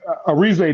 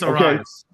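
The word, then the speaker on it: Arraez: That Ariza dude. Ariaz or whatever. Oh, Luis Arias.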